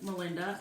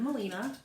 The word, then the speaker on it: Molina: then you know that everybody that uh tries to say my name or type my name uh calls me or spells me Melinda instead of Molina I honestly think that